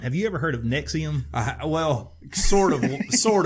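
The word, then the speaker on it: NXIVM: I saw multiple articles it is pronounced nexium just like the antacid piggybacking on an attorney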